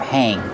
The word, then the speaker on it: hang: We use the verb hang when you install it. You hang the shower curtain on the shower curtain rod. How do you pronounce hang? Hang. Use the long A sound like plate and date.